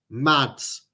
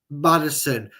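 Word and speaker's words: Maddison: Tielemans, Mads. Uh, not Mads Mads and Madders. Sorry, I'll say it properly. Madison, I know we kind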